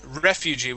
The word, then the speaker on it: refugee: oh okay Refugee okay Refugee with the accent at the very beginning Refugee Refugee excellent okay